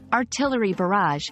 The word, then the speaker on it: artillery barrage: Y and bar rage the first part artillery has the stress on the second syllable and in barrage the stress is on the second syllable as well repeating these words a